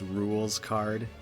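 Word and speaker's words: Rouxls Kaard: how Rukh Souls card is actually supposed to be pronounced rules card but some in the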